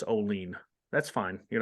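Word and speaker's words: Olean: Oilers baseball team and uh somebody goes it's Olene that's fine you're not the first ah there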